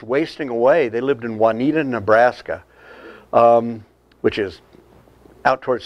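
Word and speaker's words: Wauneeta: They lived in Juanita, Nebraska, which is out towards Sterling and across the line. It's spelled W-A-U-N-E-E-T-A, Juanita, because we can't spell Spanish words.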